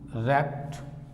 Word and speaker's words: wrapt: और दूसरा एक शब्द और लिया, WRAPT, रैप्ट। यह भी रैप्ट। यहां पर W क्या है? साइलेंट है।